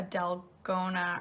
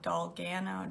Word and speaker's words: dalgona: So, and I'm also gonna make a dalgona. I always pronounce it wrong. Dalgana, dalgona coffee this morning.